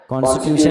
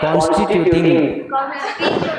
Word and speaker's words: constituting: कॉन्स्टिट्यूशन नहीं है, कॉन्स्टिट्यूटिंग।